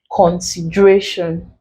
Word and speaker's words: consideration: So what is ending with ION? We stress the syllable before the last. That's the penultimate syllable. So here that will be RA, which makes the last option our answer.